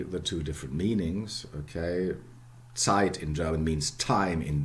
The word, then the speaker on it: Zeit: word tied in english in german sight the zed in german it's always yeah and africa not zeit sight sight okay i have the